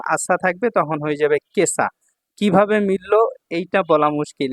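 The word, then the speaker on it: 今朝: আর এখন এই যে ইমারকানজির সাথে যখন আসা থাকবে তখন হয়ে যাবে কেসা। কিভাবে মিলল? এইটা বলা মুশকিল। এখানে স্টার চিহ্ন আছে। মানে কি? এটা ব্যতিক্রম উচ্চারণ। ঠিক আছে? তো কেসা অর্থ হচ্ছে আজ সকাল।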